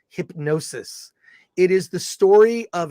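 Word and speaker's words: Hipgnosis: film it's hip g-n-o-s-i-s it's actually pronounced hypnosis it is the story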